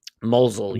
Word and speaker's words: Mosul: we will mention the is it is they pronounce it Moselle is it Moselle mosul yeah mosul yeah the orb that piece of